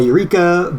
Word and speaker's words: Eureka: it's same here yeah it is uh eureka but then they turned that into uh what the katakana would be um if it was romanized as eureka is spelled and then they still pronounce it like that in the dub so it is aodeca